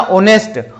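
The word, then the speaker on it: honest: अगला है ही इज, इसको अगर आप होनेस्ट पढ़ रहे हैं तो आप गलत पढ़ रहे हैं, क्योंकि यहाँ पे एच साइलेंट है, ठीक है, और एच साइलेंट है तो इसको क्या बोला जाएगा, ऑनेस्ट, ऑनेस्ट, ठीक है।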